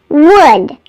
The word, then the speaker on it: would: me don't forget that the L in the words would could and should is silent it's could would should there's no l in those words if you need a